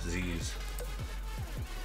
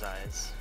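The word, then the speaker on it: Zei's: Zais, is that how you pronounce it? I always call it Z's. No, it's Zais.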